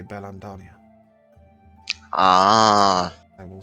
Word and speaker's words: Beldania: lands of berlin daniel and yes that was not a mistake they'll say bellam dania ah i will spell